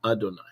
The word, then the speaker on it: Adonai: When you see these four letters, you are to pronounce the word Adonai.